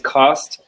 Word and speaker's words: CAWST: been with CAWST for 8 years now, and CAWST is how we pronounce the acronym, by the way. Some people will call it CAWST or something else, but the proper way is CAWST.